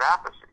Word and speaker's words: Appice: Carmine says Appice, I say it Appice."